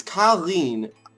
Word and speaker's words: Karine: It's Karine is how you pronounce it, but sometimes it's different ways.